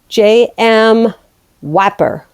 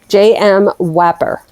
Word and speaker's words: JMwapar: a costume so um yeah this is great JM Whopper that's the way that's that's how I'm that's how I'm pronouncing it J M hold on let me just make sure let's get that right JM Whopper so that's how we're saying it all right